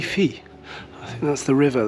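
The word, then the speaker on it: Teifi: of the ains Tron how do you pronounce that the Nikki being a Welsh person that you are tyi tyi I think that's the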